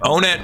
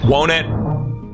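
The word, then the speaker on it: Onett: I always flip-flop the pronunciation of it. Onet, Wonet, Onet. I think it's supposed to be Wonet because it's like one. You got Wonet, Tucson, Threed, you know.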